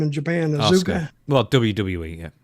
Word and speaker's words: Asuka: Asuka. Well, WWE, yeah. How do you say the name? It's almost like Oscar, but it's Oscar. Oscar, okay.